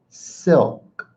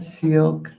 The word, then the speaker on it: silk: Silk. Silk. Okay? It. It's not an E. It's not milk. It's not silk.